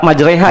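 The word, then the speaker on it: majrēhā: Majreha ya imalah ini dibacanya. Bismillahi dengan nama Allah.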